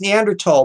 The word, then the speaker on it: Neanderthal: well it's actually pronounced Neanderthal because the Germans pronounce the th as a T sound and it's spelled often